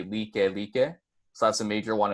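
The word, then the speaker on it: Lāʻie: one is Like Like, or it's spelled like, but when you pronounce or when you enunciate it with the piapa, it's going to be Like Like.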